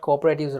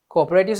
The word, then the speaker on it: cooperative: about the classification according to ownership, we got cooperatives right here. See? Do you remember the word I gave you? Time out. You should remember. Just a few minutes ago, I said cooperative societies should be pronounced as cooperative.